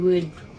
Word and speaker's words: would: that nasal resonance n the word would contains a strange spelling o u and this is pronounced using the uh as in put vowel it sounds just like the word w as in the material that trees are made of and remember the L is silent here and we have